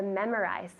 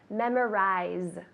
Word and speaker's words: memorize: How do you say to memorize in Spanish? Memorizar. Good, so really similar, except the pronunciation of the Z. Memorize. Memorize. Tell me. Memorize. Good, very good. So it's like a Z sound.